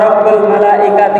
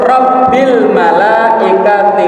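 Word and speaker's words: رَبِّ الْمَلَائِكَةِ: Jadi tidak ada subuhun qudusun Rabbuna wa Rabbul malaikati warruh. Langsung Rabbil malaikati warruh. Bukan Rabbul, tapi Rabbil malaikati warruh.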